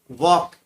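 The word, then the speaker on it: walk: Ninth में वॉक, इसमें L silent रहता है।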